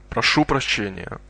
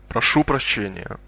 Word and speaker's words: Прошу прощения: Excuse me is actually two words. Proшу прощения. Try and roll your R's. Listen and repeat. Прошу прощения. Прошу прощения.